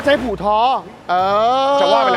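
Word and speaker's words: 葡萄: ชื่อ มงคล ใน ภาษา จีน ที่ อ่าน ว่า ผู่ ท้อ ใน ภาษา จีน แต้ จิ๋ว ซึ่ง มัน มี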